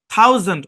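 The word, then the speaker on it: thousand: হ্যাঁ, এখানে এসটা জেড এর মতো উচ্চারণ হবে, থাউজেন্ড, থাউজেন্ড।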